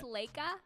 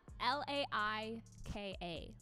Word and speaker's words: Laika: I think it's Laika, L-A-I-K-A, Laika is how I would say it.